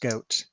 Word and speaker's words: Godt: Ram says your mom reminded me it's pronounced goat. No. Yes, it may sound like it's like a mammal, but actually the mammal sounds like me.